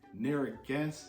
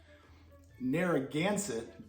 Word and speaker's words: Narragansett: going to be trying near against uh i said it wrong darn it narragansett beer i looked it